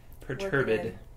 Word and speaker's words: perturbed: Perturbed. Perturbed. It's only two syllables of perturbed.